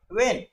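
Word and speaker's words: when: डब्ल्यू एच का उच्चारण होगा व ई ए एन न। अब इनको मिला देंगे तो डब्ल्यू एच ई एन का उच्चारण हो जाता है वेन।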